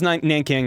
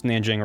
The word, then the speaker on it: Nanjing: They just, Man, you know, us English speakers like to not say things the way locals say them, so we just kind of say whatever we want. So it was Nanking, now it's Nanjing, or it's always been Nanjing, whatever.